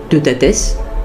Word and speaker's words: Teutates: Il comportait beaucoup de monde, Taranis, Teutates, parce que c'est comme cela que ça se prononce en réalité, Bélénos, Bélissama, Lugh, Epona, Dagda, Esus, etc.